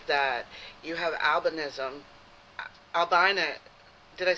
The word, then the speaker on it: albinism: Albina. Did I say it right? Yeah, you said it right. Alvinism. People also say albinoism, too. But uh I I think albvinism is the correct one.